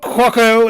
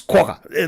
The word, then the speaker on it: quokka: He's like, all of you are wrong. It's Quokka. It's not Quokko. It's not Quacker. It's not whoever. It's Quokka.